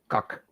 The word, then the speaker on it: kak: And here we say plain and simple kak. Cook. Kak. K-A-K. Kak. Uh-huh. Yeah, we spell it different than you do.